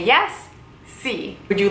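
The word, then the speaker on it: sì: same way no how do you say yes see would you like some help see you can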